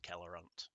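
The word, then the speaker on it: Kheledûl: Yeah, I'm sure that's an Elvish name, Kheledul. So let's pronounce it properly. With a K.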